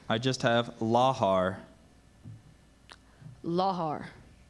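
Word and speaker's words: lahar: begin round 14 laar are there any alternate pronunciations I just have laar laar l a h a r laar that's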